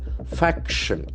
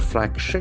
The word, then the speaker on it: faction: Faction. That is a very important word. Faction. F-A-C-T-I-O-N. It's not fraction. It's a faction.